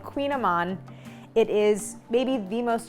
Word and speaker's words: Kouign-Amann: making a recipe that is as difficult to pronounce as it is to make it is called Queen Aman it is maybe the most delicious pastry I